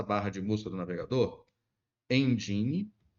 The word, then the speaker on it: Nginx: Vamos escrever aqui na nossa barra de busca do navegador, Engine. A escrita é assim, ó, Nginx, mas nós pronunciamos Nginx.